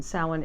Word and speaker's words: Samhain: Samhain or Samhain. Samhain is the proper pronunciation for Halloween, traditional pagan tradition, religion.